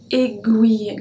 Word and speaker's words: aiguille: Numéro 2, une aiguille. Guille, because we have G-U-I. Une aiguille, guille, une aiguille.